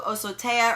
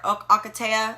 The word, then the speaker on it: Ocotea: another, Rutavala, Eucalyptus Blue, Osotea or Ocotea, everyone pronounces it different. I've always said Osotea, but Ocotea.